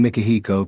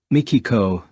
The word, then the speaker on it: Mikihiko: However, upon hearing Mikihiko pronounce his name as Mikiko, this purely Japanese name seemed to have stumped her as an American. It's a little hard to pronounce, so if you can't say Mikihiko, go ahead and use Miki.